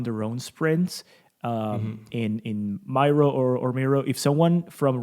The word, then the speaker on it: Miro: one knows that's true so i've been in touch with some people uh in-house in there who say mirror and i've been in